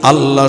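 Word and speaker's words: الله: আর তাজউইদ বেত্তাগণ বলেন আল্লাহ শব্দের ডাইনে যদি জবর হয় তখন সেটা কি হয়? পোর হয়, মোটা হয়।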